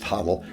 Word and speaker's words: hodl: even been shorted to the acronym hodl pronounced title it's also patient now